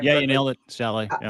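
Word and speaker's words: Salé: Yeah, you nailed it, Saleh.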